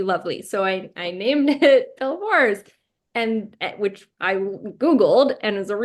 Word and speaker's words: Belvoir: Like this question, did you purposely name it Belvoir, like Beaver Castle in Leicester?